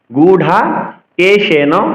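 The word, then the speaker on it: গুড়াকেশেন: আট অক্ষর এবার পরবর্তী অংশে গুঢা কেশেন ভারত গুঢা কেশেন পা মহাপ্রাণ রত দেখুন এখানে কিন্তু ঢু রয়েছে তো অনেকে গোড়া বলে র উচ্চারণ করে এখানে র নয় এখানে বিন্দু বিন্দুর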